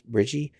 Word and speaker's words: Brigii: uh yeah that's the bridgie I think that's how you pronounce it b r i g i i so that's bridgie uh and that's the